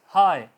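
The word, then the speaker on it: high: अगर आपका letter GH किसी वर्ड के आखिर पर आ जाता है तो वो साइलेंट रहेगा। फॉर एग्जांपल हाई, बुलंदी, हाई, HI हाई होगा, GH नहीं बोला जा रहा।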